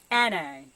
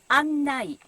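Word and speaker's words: 案内: It's not anai, but annai, guide.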